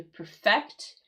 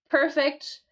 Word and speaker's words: perfect: You see how I changed the accent here and the the meaning change. So to perfect, it's going to be that verb. We have that accent here on the second syllable. Um, in perfect, the accent of the first syllable in the adjective.